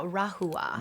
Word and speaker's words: Rahua: How is this pronounced? Yeah, rahua.